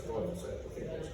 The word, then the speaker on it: glyphosate: pH, according to Karen, is pronounced F, so it's glyphosate.